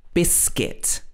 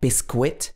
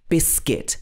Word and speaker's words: biscuit: the second syllable guitar here are two other common words that have a silent u uh in the uit form biscuit this is not bisquit should be biscuit and also circuit is